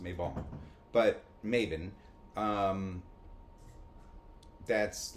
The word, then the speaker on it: Mabon: Which is Maven. Yes. I still think it should be pronounced Mabon.